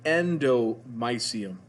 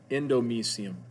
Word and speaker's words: endomysium: see is called the endomysium endomysium different pronunciations you can do use either one e-n-d-o-m-y-s-i-u-m endomysium foreign capillaries